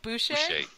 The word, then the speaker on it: boucher: Like boucher? Oh, that makes sense. Yeah. Exactly. Yeah, that would be in keeping with the French pronunciation, wouldn't it?